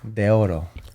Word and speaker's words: Deorro: in in Latino bro in Spanish it's De Oro bro that's what it is right for me it's